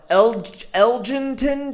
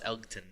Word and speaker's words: Elgton: Like, people are like, oh, are you talking about that Elgington Jenkins? The G is silent, guys. The G is silent. It's not really. It's Elgton, but man, it's pretty silent.